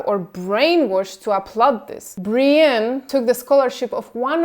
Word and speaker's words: Brienne: winner earlier this month Brian pronounced Brienne so Brienne a 19